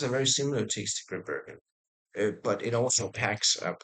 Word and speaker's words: Grimbergen: It tastes like a Grimbergen, I would call it.